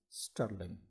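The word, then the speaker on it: strlen: special predefined function named s-t-r-l-e-n pronounce sterling that you can use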